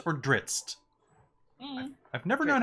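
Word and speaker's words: Drizzt: There's an apostrophe and a T, so there's a glottal stop between the Z and the T.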